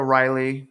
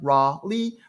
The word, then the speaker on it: Raleigh: these names but let's go to Riley or Raleigh I'm sorry raw Lee so Raleigh is down